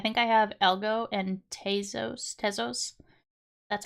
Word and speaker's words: Tezos: I think I have Algo and Tezos.